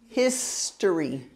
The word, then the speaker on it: history: History. History. The emphasis is on the first syllable, history.